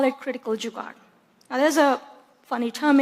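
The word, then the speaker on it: जुगाड़: And so the term here that you see here, it's pronounced Jugaad. It's a Hindi word.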